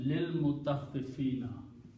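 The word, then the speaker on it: للمطففين: This alif is not pronounced. Becomes lil mutaffifina.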